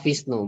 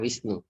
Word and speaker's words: Vishnu: Wisnu Wisnu Wisnu no bacanya tetap Vishnu bukan Wisnu Eh Vishnu Vishnu bukan mistake out berapa untuk